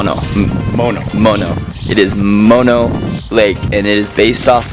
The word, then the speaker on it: Mono Lake: were having an argument about how do you pronounce Mono Lake I think it's mono like the drug